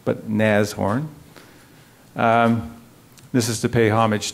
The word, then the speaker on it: Nashorn: sort of our unofficial logo Nassau it is pronounced as horn not Nash horn not Nass forn but neighs horn this is to pay homage to its ancestor